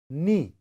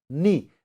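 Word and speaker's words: knee: Ni. K-N-E-E. Ni. Now this ka sound is silent here.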